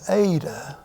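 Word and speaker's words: η: line that is an adaa and it is pronounced like the a in fate the a in fate the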